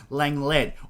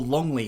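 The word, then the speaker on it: Lenglet: I know people say Langlet, but I know the commentators on the game say Longley. I know on a few of my TikToks, I absolutely got roasted for calling him Longley because I thought that's how you pronounce it because the FIFA commentators say it that way.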